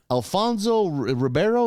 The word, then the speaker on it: Alfonso Ribeiro: that is still on uh-huh Alfonso Ribeiro is how he pronounce his name he's Carlton and Fresh Prince